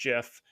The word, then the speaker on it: GIF: And yes, it's pronounced GIF.